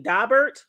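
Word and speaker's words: Daubert: Now, for y'all who don't know, because I didn't know this either, but a dabbert and it's spelled D A B E R T. Dobert.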